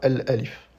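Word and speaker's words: ألف: Mais lorsqu'on prononce un mot de manière isolée, on peut choisir de ne pas prononcer la voyelle finale. Donc ici, on dira alif.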